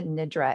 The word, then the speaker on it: nidra: retailers to buy it the way that the practice is pronounced it's yoga nidra n-i-d-r-a there was a